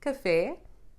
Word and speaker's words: café: This accent is only needed when the tonic syllable is not the one before the last in words like café, bebê, gênero.